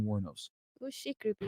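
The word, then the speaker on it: Wuornos: Sorry, guys. Pronounced Warnos. Aileen Warnos.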